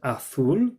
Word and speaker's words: azul: Púrpura, amarillo, rosa, naranja, and azul. And that Z is like a th sound as well.